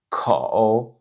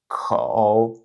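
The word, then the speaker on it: 口: On peut s'entraîner à prononcer donc le caractère suivant kǒu kǒu kǒu Donc troisième ton.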